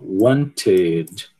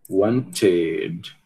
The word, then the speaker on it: wanted: terminado em t, né, nas exceções. Então você vai adicionar uma outra sílaba wanted, wanted, né?